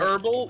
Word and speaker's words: herbal: it's horrible it's horrible isn't it herbal you don't it's a silent age because no no no